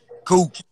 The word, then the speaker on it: Coop: How you say it? Coop. Like cool.